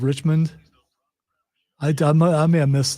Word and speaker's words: Richmond: never mind never mind did you say rich man instead of Richmond I I may have